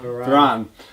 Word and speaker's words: Varane: How do you pronounce his name? Varane.